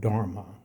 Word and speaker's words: dharma: In Sanskrit, our life's purpose is called dharma. D H A R excuse me M A which phonetically and even in spelling pretty much rhymes with karma which is action positive negative or neutral.